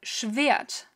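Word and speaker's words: Schwert: off we have the schvyat which has a w in it that is pronounced because otherwise it wouldn't have a w in it english viet then we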